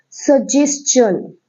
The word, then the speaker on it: suggestion: It's pronounced like suggestion because of there is written as tion, so it's called shun.